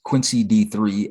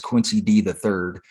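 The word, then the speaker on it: Quincy D III: He called Melly Mel Melanie Mel. He pronounced Quincy D3 as Quincy D the third, and Quincy D is obviously Quincy Jones' son.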